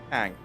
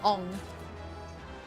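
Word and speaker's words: Aang: Ang. Ang. Oh. Yeah, I've heard that. How do you mispronounce Ang? It's 3 letters. Or 4 is Oh, double A, it's isn't 4. it? They'll call him Ong.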